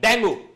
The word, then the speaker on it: dengue: डेंगी बोलते हैं इसको, डेंगू बोलते हैं इसको, हम डेंगी भी कहते हैं इसको, दोनों प्रोनाउंसिएशन सही है के। हम लोग इसको जो नॉर्थ में जो लोग हैं अधिकांश वो डेंगू कहते हैं, दिल्ली वाले इसको जो